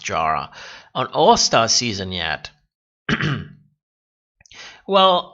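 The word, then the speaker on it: Yara: But why haven't we seen Jara, it's pronounced Jara, on All-Star season yet?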